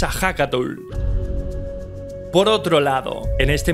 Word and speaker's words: Ehécatl: En la lengua náhuatl, el viento se escribe como Hecatl. Sin embargo, su pronunciación es Ahakatl.